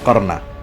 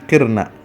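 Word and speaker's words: قِرْنَ: asim dan Abu Jafar itu membacanya qarna nah tujuh imam yang lain dalam qiraat asrah yang dipakai oleh kaum muslimin seluruh dunia itu membacanya waqirna Jadi bukan qarna tapi qirna nah qirna sama artinya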